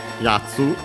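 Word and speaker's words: やつ: Accent on the ya, so on the first syllable.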